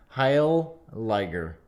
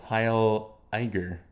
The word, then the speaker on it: Heiliger: Heil Liger. No, that's too many L's. Heil Eiger. Heil Eiger. Yeah. Heil Eiger.